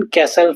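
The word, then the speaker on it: castle: ऐसे ही silent T, listen, कैसल, फासन, listen इसे हम फास्टन बोलते हैं, ऐसे नहीं बोलते, फासन बोलते हैं इसे।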